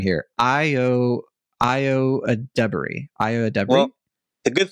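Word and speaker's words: Ayo Edebiri: her name correctly um I I see a pronunciation right here IO IO ad Dey IO ad Dey the good thing is that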